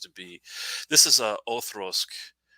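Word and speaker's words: Auchroisk: This is a Othrosk. I know it sounds weird me seeing it that way, but that's how you pronounce it, Othrosk.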